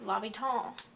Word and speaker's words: L'Hôpital: as if it's the hospital roll it's actually pronounced Lobby tall you can impress your teacher if you watch this before they teach you Lobby dolls all right now that we've figured out how